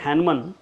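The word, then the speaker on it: Hahnemann: ठीक है, और मैंने बताया कि हैनमन, the pronunciation of हैनमन is very much similar to हनुमान।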